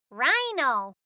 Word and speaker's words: rhino: The H is silent this time. Shh. Rhino.